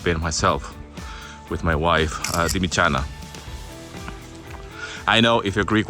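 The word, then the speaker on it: Dimitsana: myself with my wife, Dimichana. I know if you're Greek watching this, I know that I pronounce the T as Taf Sigma, like a CH.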